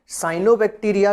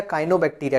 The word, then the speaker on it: Cyanobacteria: तो देखिए दोनों ही नाम दिए थे किताब में, तो साइनोबैक्टीरिया कहते हैं या काइनोबैक्टीरिया कहते हैं। ठीक है, बात एक ही है।